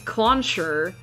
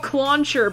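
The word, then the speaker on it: Clauncher: It's called Cluncher because it's got launcher in the name.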